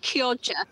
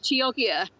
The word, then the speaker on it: Chioggia: She said Kioja. Right. So I think it's often pronounced Chioggia.